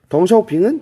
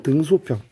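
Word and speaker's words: 邓小平: 마오쩌둥은 어른들은 모택동이라고 불러요. 덩샤오핑은 등소평. 얘네를 중국어로 읽으면 마오쩌둥이라고 읽고 등소평을 덩샤오핑이라고 읽거든요.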